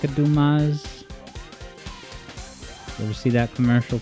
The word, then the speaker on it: Dumas: Dumbass? And then he goes, in this very proper voice, he goes, the name is Dumas. He was saying it wrong.